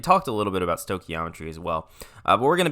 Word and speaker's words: stoichiometry: I know it looks like stoichiometry, but it is pronounced stoichiometry.